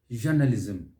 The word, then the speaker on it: journalism: of that first syllable it is ja not jo and then towards the end not journalism the stress is on the first syllable how about this one